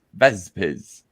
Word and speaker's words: Vespizz: you pronounce vespizz and that's the answer vespis with this it's vespis but with Z's vespizz uh Robert Romano says